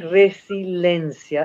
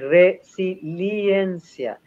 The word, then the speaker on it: resiliencia: Y no es resiliencia, es resiliencia. Ojo con esa palabra, porque todo el mundo lo pronuncia mal.